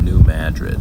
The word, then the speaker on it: New Madrid: after a big place, choose to mispronounce it. They call it New Madrid.